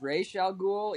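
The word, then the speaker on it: Ra's al Ghul: um with um yeah actually technically the correct pronunciation is ray shall ghoul even though it doesn't make anything they don't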